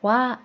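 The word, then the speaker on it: は: 하는 뭐 뜯는 이라는 주격 조사로 쓸 때는 하라고 쓰지 많은 발음을 와 라고 한다고 했죠 기억하시죠 그리고 그것은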